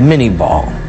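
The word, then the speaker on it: Minié ball: Today we call it the mini ball. Little corruption of the French pronunciation, but a conical shaped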